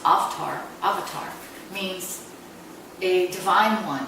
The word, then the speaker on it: Avtar: means 1.2 devotion and an avatar or it's pronounced oft are avatar means a divine one who's come from